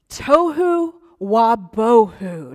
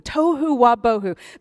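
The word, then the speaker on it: tohu wa-bohu: Hebrew is I like it rhymes Tohu wah boho Tohu Wabo who the the writer kind of I think intentionally made it rhyme Tohu Wabo who formless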